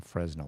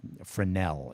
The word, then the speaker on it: Fresnel: would stay away from the Fresno or Frenel is the way to pronounce it.